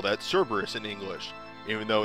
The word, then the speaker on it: Cerberus: in Japan the way you say Cerberus is Cara barrows and then just like no you call that Cerberus in English even though it's pronounced that way and like might then caused